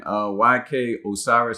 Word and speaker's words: YK Osiris: All right, so in case you guys haven't heard, you got my man YK Osiris, I believe is how you say his name.